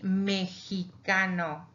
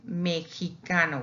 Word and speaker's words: mexicano: Also, when we say the adjective Mexicano, he's a Mexican, Mexicano with a J. But also, we have, if with time, we have noticed that before it was Mexicano, Mexicano.